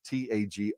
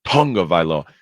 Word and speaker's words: Tagovailoa: It's Tagovaiola. Taga. It's spelled Taga, but we say Tunga. Tagovailoa.